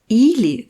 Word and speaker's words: или: C'est le premier i qui est accentué. Il est long et fort, alors que le dernier i est réduit.